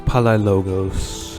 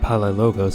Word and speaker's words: Palaiologos: Staurakios Palaiologos. Oh, I've been mispronouncing it this whole time. It's not Palaiologos, it's Palaiologos.